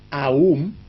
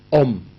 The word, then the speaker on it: Om: Hay la pronunciación Aum, A-U-M, y la pronunciación Om.